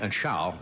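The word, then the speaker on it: Zschau: And Schau, is that pronouncing it correct?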